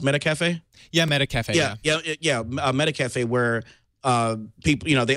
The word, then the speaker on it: Metacafe: done the same thing with what is it pronounced, Metacafe? Yeah, Metacafe.